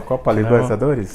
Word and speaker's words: Copa Libertadores: Is that correct this is pronunciation? Good. Exactly. Oh, you are doing well. Copa Libertadores.